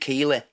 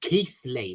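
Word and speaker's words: Keighley: And the news report was, the reporter on the news was like from London or down south, and he called it Keeley.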